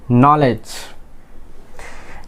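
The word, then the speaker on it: knowledge: নলেজ আমরা কি এখানে কি ডি এর প্রনাউন্সিয়েশন আমরা করি না, আমরা এখানে ডি প্রনাউন্স করি না, আমরা কি বলি এটাকে নলেজ, বিকজ এখানে কি ডি একটা সাইলেন্ট লেটার।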